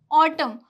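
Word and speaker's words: autumn: अगर एन से पहले एम आए तो एन साइलेंट रहेगा।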